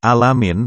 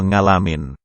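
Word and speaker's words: العالمين: Wali Paidi ini ketika membaca huruf Ain, menjadi Ngain, Robil Alamin menjadi Robil Ngalamin.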